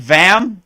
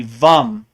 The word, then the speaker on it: vam: It looks like vam, but it's really vum.